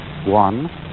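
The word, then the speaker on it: 觀: Chinese character which I drew at the beginning, pronounced guan, or quiet observation.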